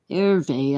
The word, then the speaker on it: Hervé: Hervé, I guess. The H is silent in Spanish.